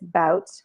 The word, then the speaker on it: Bout: So the bigger picture there was obviously, Victor, and it's Bout, that's how you pronounce his last name, Victor Bout, was traded for Griner, and it was the only deal on the table.